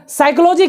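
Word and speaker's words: psychology: चीज पूछ पूछ देगा साइकोलॉजी क्या स्पेलिंग बता अब कहां से बतर हुआ साइकोलॉजी क्या स्पेलिंग बताएगा रे साइकोलॉजी में पी साइलेंट रहता है कर अगर नहीं बताया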